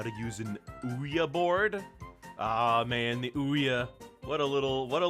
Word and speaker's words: Ouija: uh the name for Ouija was made by combining we and yah from it's just two different ways to say it's just two different ways to say yes so really it should be just pronounced we are but I don't know why it's not they just decided that it should be pronounced Ouija board that's